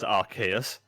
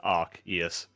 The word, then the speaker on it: Arceus: Yeah, so the three most popular ones, well, everybody used to think it was Arceus with a soft C. Uh-huh. And then I think in Revolution, it pronounced it as Arceus. Yeah. But I think the official pronunciation is Arceus. Arceus.